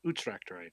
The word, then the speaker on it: Utrecht: Yeah, because like I'm pronouncing Utrecht right? Utrecht. Utrecht, okay. Utrecht. Okay, harder vowel. You, not you. U. There's no che in there.